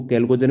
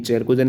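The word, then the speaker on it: chalcogen: 16वां group को आप कहेंगे चैल्कोजन। अब उनको कैल्कोजन भी आप बोल सकते हो, प्रोनाउंसिएशन में कहीं कहीं चैल्कोजन भी कहते हैं, कैल्कोजन भी।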